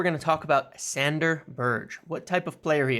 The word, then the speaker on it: Berge: of player he is now you may say that I'm pronouncing his name incorrectly but I assure you I watched a video of an interview with sander Burge or burga or something like that and um he himself said it switches all the times